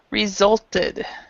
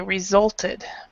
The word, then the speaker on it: resulted: Okay, so first of all, resulted. Okay, so remember that because you've got the T here, that this ED is pronounced. So you would say resulted.